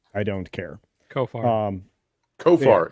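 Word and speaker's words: Khofar: don't care kof um kofar it's goar but with a sound at the beginning kofar you know what at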